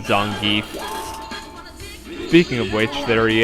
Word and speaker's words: Zangief: I believe Zangief does something as well. Or as the guy in Super Street Fighter 2 always said, Zangief.